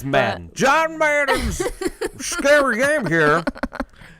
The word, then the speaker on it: Medan: I never know if it's Maiden or Medine or Medane? yeah. It's Madden.